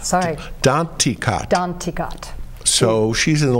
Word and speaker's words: Danticat: Edwidge Danticat.